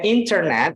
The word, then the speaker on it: internet: Nah, seperti di sini bacanya internet, biasanya kita mendengar orang bilangnya internet, tapi di sini di American bilangnya internet.